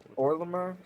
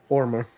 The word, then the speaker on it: Ormr: Orlimer? And that's the person we're discussing? Yeah, ORMR. Ormer. You can say Ormer, but if you Yeah. can't roll your R's, it's okay.